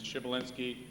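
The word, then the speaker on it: Przybylinski: His last name is Shibalinski. $20, anybody can spell it.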